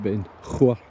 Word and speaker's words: Beinglas: It's looking up to Beinglas, Ben Chabair, but Beinglas as it's pronounced.